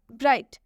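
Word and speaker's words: bright: ब्राइट ब्राइट में भी देख सकते हैं जी एच टी है अंत में इसलिए एच का उच्चारण नहीं हुआ है।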